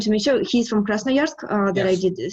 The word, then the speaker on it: Krasnoyarsk: I'm sorry, I just want to make sure he's from Krasnoyarsk, that Yes.